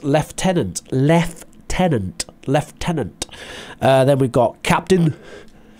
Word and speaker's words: lieutenant: from but there you go so it's lieutenant left tenant lieutenant then we've got captain major so to